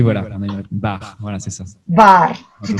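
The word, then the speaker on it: бар: Bar, voilà, c'est ça. Bar, tout à fait, bar, exact. Et là, voilà, donc chaque lettre se prononce, bar, il n'y a pas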